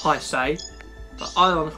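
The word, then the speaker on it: Haise: Well, I know it's pronounced high say, but I want to call him his A.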